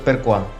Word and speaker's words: Xqua: una línea de ropa que llamó xqua que en italiano se pronuncia percoa se inspiró en